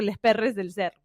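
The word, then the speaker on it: Lxs Pxrrxs del Cerro: O bueno, Los Perros del Cerro, pero con X, entonces yo lo pronuncio Les Perres del Cerro.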